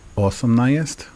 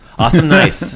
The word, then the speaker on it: osamnaest: Osamnaest. Osamnaest. Awesomenaest. Awesome nice. Yeah. So awesome nice, but it's osamnaest.